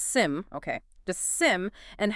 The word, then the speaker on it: SIEM: That's SIM, and it's pronounced SIM.